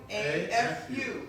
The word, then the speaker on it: Tukuafu: just like it's spelled, Perfect. Tukuafu.